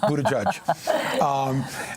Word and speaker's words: Buttigieg: Yes, I'm not trying to pronounce the name. It is Buttigieg.